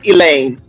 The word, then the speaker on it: Elaine: First of all, Eileen is a white name, but Eileen is spelled with an A, not an E. It's Elaine.